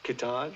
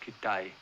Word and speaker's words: Kitaj: Kitaj. No, it's pronounced Kitai.